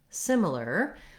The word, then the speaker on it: similar: at the word similar we have first syllable stress so the sim syllable is long and the other syllables are short and reduced the first letter i says the sound like in it as in simple etc and then our next